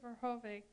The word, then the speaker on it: Verhoeven: Verhoeven, that's the way you pronounce his last name, and you both stressed